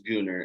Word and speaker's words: Gunnar: so wait gooner is is it pronounced Gunner or gooner because on your Instagram and everywhere it says pronounced gooner yeah so um my name is gooner it's a Norwegian or Swedish name um okay I was